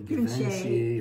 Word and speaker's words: Givenchy: It's probably Givenchy or something. Givenchy, that's right. I'm not cultured enough to know how to pronounce it.